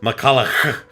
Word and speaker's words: McCullar: you I'm sorry rose you pronounce it incorrectly it's miss McCullar McCullar goddamn why is